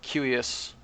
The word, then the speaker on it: Cuius: And in classical Latin, C's are hard. So Principia or Cuius or Scientia.